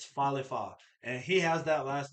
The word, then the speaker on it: Falefa: It's not Falefa. Those quit talking like it's a falafel, right? This is Falefa, So insane.